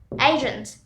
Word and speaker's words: agent: Our next word is agent. Agent. Agent is similar to asymptomatic because the A is pronounced similar to asymptomatic. We say like A, B, C, D, agent.